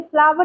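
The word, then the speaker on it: flour: अब आप प्रोनाउंसिएशन पे कंफ्यूज मत होइए क्योंकि हम फ्लोर नहीं बोलते हैं, फ्लावर ही बोलते हैं दोनों को।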